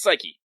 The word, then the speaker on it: Psyche: probably i was like is it psych or psyche but then i like oh wait no thanks kingdom hearts actually recognize the key symbol so it's psyche yeah video games teaching